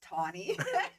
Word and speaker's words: Tawny: social media my name is the same it's Tony it's t it's Tony yes so maybe I should spell it out for you c a w n